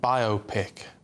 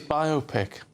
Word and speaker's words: biopic: Because it's a bio and a pic, isn't it?